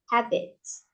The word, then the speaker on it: habits: Habits. We pronounce habits. Jadi ujungnya tuh seperti ada i gitu.